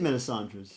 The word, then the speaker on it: Melisandre's: I'm pretty shit at pronouncing band names, evidently. Melisandre, yeah. It is Melisandre's.